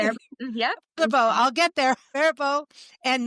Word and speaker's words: Faribault: Faribault.